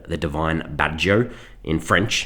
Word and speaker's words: Baggio: In Portuguese it's called the divine badjo. In French it's the divine ponytail. The art of the goal by Roberto Badjo. In Czech, it's Badjo, the divine braid. In German, it's Bajjo, the divine pigtail.